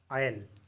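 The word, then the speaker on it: aisle: इसको पढ़ते हैं आयल, इसमें एच साइलेंट रहता है, और दूसरे को भी आयल ही पढ़ते हैं, इसमें भी एच साइलेंट है।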